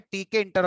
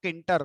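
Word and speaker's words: Tkinter: Interesting point क्या है, मैंने एक बात बोली थी शुरू में कि मैं टी के इंटर को टी के इंटर प्रोनाउंस करता हूं, बहुत सारे लोग किंटर प्रोनाउंस करते हैं।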